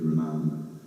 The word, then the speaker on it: Ramanamma: There's 3 syllables in this word Ramanamma.